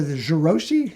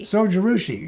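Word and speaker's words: Zojirushi: It's called the Jiroshi. Is that how you pronounce it? Sojirushi.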